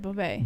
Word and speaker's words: Beauvais: Yeah, he just said Beauvais. Beauvais. Oh, I like that. It's like French.